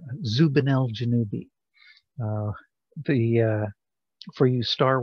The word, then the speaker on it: Zubenelgenubi: song so it because it rhymes with uh obi ben kenobi zubanel janubi um but we'll get